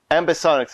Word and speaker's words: ambisonics: of your your product right now um amb ambisonics am I pronouncing that properly yes okay perfect um now